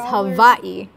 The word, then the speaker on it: Hawaii: Honolulu havai the pr the correct correct pronunciation is havai even though there's a w not a ex Hawai